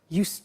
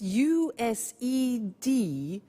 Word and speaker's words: used: have now we use used to look at the spelling yes it's it's us Edie and then T ough but the pronunciation is not used it's used unusual used okay so the example is